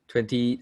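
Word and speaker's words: twentieth: this word for me 20th century 20th okay so you need to pronounce the th 20th century 20th century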